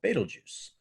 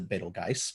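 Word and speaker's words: Betelgeuse: Moorehead at home called battle juice some folks pronounced a beetle guys but I usually say battle juice I'm gonna set it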